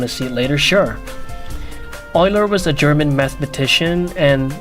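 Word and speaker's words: Euler: Oiler is pronounced Oiler, not Uler.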